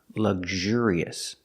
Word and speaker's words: luxurious: And the adjective luxurious, putting the stress on the second syllable. Luxure, luxurious. This word is not that common, but some people use it.